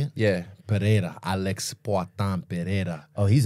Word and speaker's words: Pereira: perea is that how you say it yeah perea Alex pan perea oh he's a he's he's